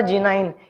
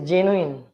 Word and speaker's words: genuine: Next word is it is not a G9. It is genuine.